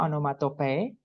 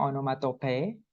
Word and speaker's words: onomatope: figuratif language berikutnya adalah anomatope bacanya onomatope V baca belakangnya Walaupun